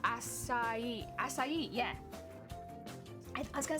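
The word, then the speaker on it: açaí: like smoothies all the time because there it's pronounced acai acai yeah i was gonna say i seen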